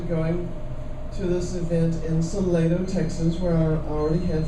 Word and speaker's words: Salado: I know other places it's actually pronounced Salado, but in Salado it's Salado.